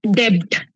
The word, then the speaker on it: debt: told me that listen the B is silent.